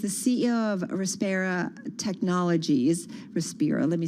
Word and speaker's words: Respira: Respira, let me say it correctly, Technologies, was 16 years at Altria Group.